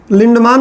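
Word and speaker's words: Lindeman: नाम था Raymond लिंडमान, कुछ लोग लिंडमैन बोलते हैं। अब हम लोग इंडियन हैं, इंग्लिश को टॉप लेवल पे बोलते हैं। अरे टॉप लेवल, तो हम अपने मन से इंग्लिश का प्रोनाउंसिएशन कुछ भी बना देते हैं, उच्चारण। तो अब उसका प्रोनाउंसिएशन कुछ किताबों में लिंडमैन लिखा हुआ है, कुछ किताबों में लिंडमान लिखा हुआ है। मैं तो मान ही लिखूंगा, मान ठीक लगता है।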